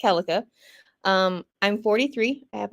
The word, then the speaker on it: Keleka: of people pronounce it Kika so I actually accept it because that's how I grew up with it but it's actually pronounced kelica um I'm 43 I